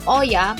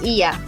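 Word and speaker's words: Oia: bus going to Iya. A lot of people would call it Oya, but in Greece, it's actually pronounced as Iya.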